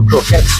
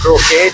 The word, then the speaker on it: croquettes: So we have chicken jalfrezi, lahori chana, naan paratha, sauteed vegetables, potato croquettes or croquet, depending on how you say it, or French toast with maple syrup, boiled eggs, good old halwa that has no sugar, and porridge.